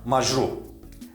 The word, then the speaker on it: Маҷруҳ: Another case, before the resonant sounds: Маҷруҳ (An injured) Маҷруҳ – a person who has received an injury.